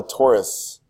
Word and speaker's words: torus: The donut geometric is called a torus. Like a Ford Taurus. Ford Taurus is spelled A-U-R.